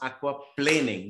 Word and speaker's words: aquaplaning: the things and remember the pronunciation is aqua planing not planning okay the very famous